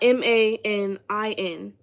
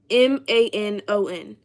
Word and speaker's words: Manon: She was like, it's not Manin. It's Manon. Oh, so it's not Manon, it's Manon. Like, that's not helping me get it right.